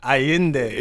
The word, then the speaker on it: Allende: Because it's Carlos Miguel and then Allende.